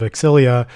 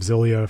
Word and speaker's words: Xillia: talked about the games they always say Tales of exilia I have been reading it phonetically in my head for as long as I could remember as Tales of zilia for whatever reason so